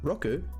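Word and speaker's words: ろく: is pronounced roku, and 10 is pronounced ju.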